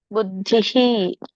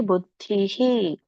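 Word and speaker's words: ಬುದ್ಧಿಃ: ಸಮಾಧವ ಅಚಲ ಅಂದ್ರು ನಡೆಯುತ್ತೆ ಬುದ್ಧಿಹಿ ಧಕ್ಕೆ ಇ ಅನ್ನುವಂತ ಸ್ವರ ಕೂಡಿರೋದರಿಂದ ವಿಸರ್ಗ ಕೂಡ ಇ ಅಂತ ಉಚ್ಚಾರಣೆ ಬರುತ್ತೆ ಹಾಗಾಗಿ ಬುದ್ಧಿಹಿ ತದ ಆಮೇಲೆ ಲಾಸ್ಟ್ ಯೋಗಂ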